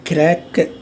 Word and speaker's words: grec: Il est grec, okay? You remember the rule, the last consonant, C, F, L, A. So it remains, you have to pronounce that.